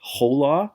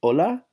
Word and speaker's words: hola: I H a why the H is silent in Spanish that's why we don't say whole law we say hola so same thing we